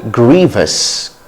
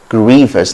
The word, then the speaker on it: grievous: british english gratuity and grievous grievous not grievous grievous grievous grievous not